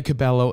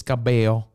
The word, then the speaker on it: Cabello: It's not Camilla Cabello. It's Cabello.